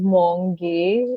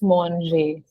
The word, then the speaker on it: mange: So instead of like speaking it or pronunciating as monge, it's monge. Exactly.